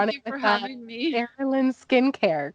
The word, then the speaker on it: Arilan: Arilan Skincare, correct? Yes. I pronounced it properly. Say it again. Arilan Skincare, I pronounced it Yes, you properly.